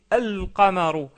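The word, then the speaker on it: القمر: Par contre, on prononce bien le lem. On dit al-qamaru, al-qamaru, et non pas al-qamaru.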